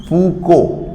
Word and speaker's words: Foucault: Okay, eddy current was invented by physicist Foucault, F-A-U-C-A-U-L-T, Foucault के अलावा सब कुछ साइलेंट है, Foucault, ठीक है।